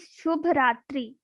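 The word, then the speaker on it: शुभ रात्रि: How will you pronounce this word? Like Shu, the same which we have learned in Shubh Prabhat. Shu, then Bha, Shubha, then Rat, Rat, and then Ri. Ri. Okay.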